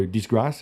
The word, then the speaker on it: disgrâce: A disgrace in France is something that's, or disgrâce is how you say it?